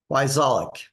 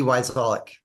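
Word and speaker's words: Wyczalek: Every other letter is silent. So it's W-Y, C as in cat, Z as in zebra, A-L-E-K, Wyzolek. Sounds just like it's spelled.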